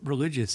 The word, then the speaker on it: religio: Well, the word religious in Latin, religio or stuff, I'm not exactly sure how you pronounce that.